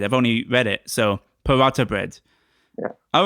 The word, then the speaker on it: paratha: So it's not a th, it's a ta, right? It is a light paratha. Paratha. Yeah. I've never heard it said. I've only read it. So paratha bread.